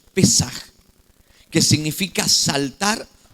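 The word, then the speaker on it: פסח: Entonces, la palabra pascua eh en el hebreo, en el idioma del pueblo de Dios, significa pesaj, se pronuncia pesaj, que significa saltar o pasar por alto, pasar de lado, pasar por alto, saltar algo.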